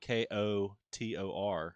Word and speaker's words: KOTOR: You have to say KOTOR.